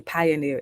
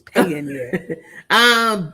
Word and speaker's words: Payoneer: I would say Pioneer. It's Payoneer.